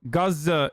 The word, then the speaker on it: Gaza: were killed were already Yes Gaza is the is the actual pronunciation but like I mean it doesn't matter receiving treatment for traumas that